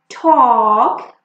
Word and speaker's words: talk: Now look, we do not pronounce L when it is between A and K. Like in walk, talk, you see A and K, so we will not pronounce this L.